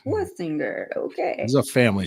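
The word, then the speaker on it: Schwesinger: I wanna Schwessinger him, but it's Swessinger.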